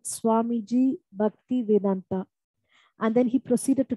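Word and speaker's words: Bhaktivedanta: He said, Swamiji Bhakti Vedanta.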